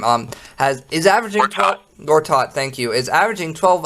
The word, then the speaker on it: Gortat: cannot say his name um has is averaging Gortat thank you is averaging 12 uh 12 points